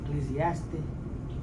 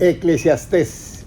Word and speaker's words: Eclesiastés: Yo entiendo lo que está diciendo, pero en cómo se dice eclesiaste, eclesiástica, eclesiastés. Eclesiastés.